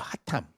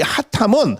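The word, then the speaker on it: חתם: 하탐. 히브리어로 이 하탐이라고 발음을 해요. 하탐이라고. 이렇게 하탐이라고 발음을 하는 이 하탐은 어떠한 비밀을 감춘다 이러한 의미가 아니고 하나님의 뜻과 아까 말씀드렸잖아요.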